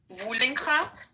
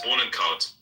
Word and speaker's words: Bohnenkraut: There's no way anyone's gonna fucking pronounce that shit. Wohlenkraut? Bohnenkraut. Bohnenkraut. Wohlenkraut. Bohnenkraut. Yeah, it's Bohnenkraut.